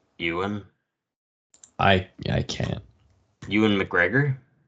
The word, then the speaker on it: Ewan: actor Yan McGregor yeah I've only heard it as euan it's Yan it's Scottish no no I know